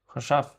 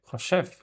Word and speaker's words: חושב: Choshav. Yes. Choshev. Choshev. What is choshev? To think? Yes, thinking. אני חושב. I'm thinking. Yes. Choshev.